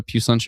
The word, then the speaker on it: Puslinch: I like how a lot of people tried to phonetically spell Puss as Puss, but that just looks like pus. So I think if somebody did it perfect where they did P-O-O, like poo, or they went P-O-O-H and then added an S at the end. Yeah. To phonetically spell puce, I would say P-O-O-H.